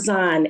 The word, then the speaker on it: Az'an: name so pron is is it Aon it's aan a z a n I love the way